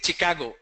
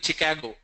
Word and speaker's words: Chicago: A lot of people say Chicago. I'm going to Chicago. It's not Chicago, it's Chicago.